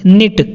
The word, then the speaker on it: knit: आगे है हमारा बुनना, निट, KNIT। यहाँ पर जो के है वो साइलेंट होता है, तो इसको हम लोग निट पढ़ते हैं।